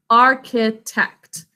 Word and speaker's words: architect: in an arch but we say it as a c sound and final syllable is four sounds basic code architect pick up your pencil